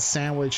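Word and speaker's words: sándwich: So, okay, so when I'm learning Spanish, though, it's telling me that sandwich is sandwich. No, really? Really? Yeah. Maybe that's like the informal way. Accent on the A? Correct. Yes.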